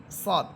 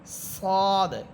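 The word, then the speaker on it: ص: আকার ছাড়াই পড়তে হবে এরপরে হরফ যা সিন সদ এই তিনটা হরফের মাখরাজ এক অর্থাৎ জিহ্বার আগা সামনের নিচের দুই দাতের আগার সাথে লাগাবেন আমরা কিন্তু জালেরটা পড়েছিলাম উপর উপরের দুই দাতের আগার সাথে আর যা সিন সদ এই তিনটা হরফ নিচের দুই দাতের আগার সাথে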